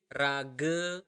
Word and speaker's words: raga: We is raga mekejang. Raga, so you really need to pronounce the R here.